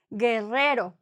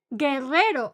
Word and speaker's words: Guerrero: Guerrero, this sound G is thanks to this U that is in between them. They need that U to make that G sound. Otherwise, it will be like G. Yeah? If they don't have the U, the sound wouldn't be G, would be H, like an H in English. H.